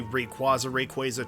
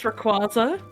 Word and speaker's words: Rayquaza: Then again, I know this is also treading into the Rayquaza territory, which don't get me started on that. It's Rayquaza. It's Rayquaza. If you call it Rayquaza, I'm gonna punt you.